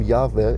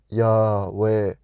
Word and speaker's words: Yahweh: So the name Yahweh, you don't pronounce with your lips and you don't use your tongue. And I can demonstrate it now. Okay, now I spoke it kind of. Yahweh.